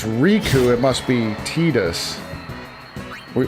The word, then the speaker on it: Riku: He says Riku and it's R I ku.